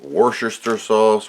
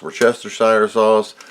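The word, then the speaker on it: Worcestershire sauce: chips crinkle cut crisps there are so many slang pronunciations here in America of worest sauce orchester Shire sauce I just say washer sister sauce and people give you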